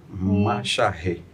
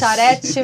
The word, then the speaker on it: Machareth: Doutora Fabiola Macharri. Aprendemos a falar, hein, Luiz? Olha, são os primeiros, hein? Já dá para ir para Paris. O pessoal Já dá pra ir pra Paris. Macharete, Macharé, Aí cada um pronuncia do jeito.